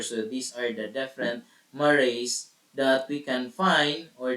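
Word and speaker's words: mare: the dark areas are known as maray Mar maray pronounced as maray which is the Latin word for Seas the lunar maray are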